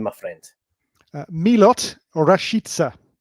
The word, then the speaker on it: Rashica: my friend milot or rashitsa is how he pronounces himself so we go by